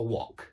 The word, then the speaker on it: wok: Yeah, a walk, you're frying your rice with a wok. But in British English, a wok. Yeah, a wok.